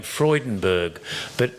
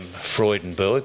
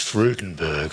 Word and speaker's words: Freudenberg: name before, pronounced Graham Freudenberg, but for many, many years, I used to say Graham Freudenberg because his nickname to all of us was Freudy.